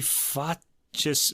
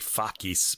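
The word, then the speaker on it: facis: solus qui fatches mirabilia i'm using my uh italian style latin i know you think when they'd probably say like fakies but the c becomes a k but in english in italian it's more like a ch anyway this one uh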